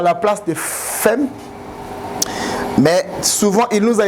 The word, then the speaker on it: femme: pourquoi est-ce qu'on prononce femme à la place de femme. Mais souvent, il nous a été dit que lorsque deux M précèdent le E, ça devient O. Ça devient A.